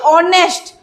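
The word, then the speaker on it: honest: ए नुहे एठी बिकॉज़ ओ एठी एच row sound Cina silent रहउछ but sound एठी एच सिना साइलेंट रहउछ बट तार साउंड आसुची ऑनेस्ट सेति पई ही इज एन ऑनेस्ट बॉय.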